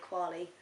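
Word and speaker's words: Kwalee: see this recording studio uh program studio called quali it's spelled k w a l e e I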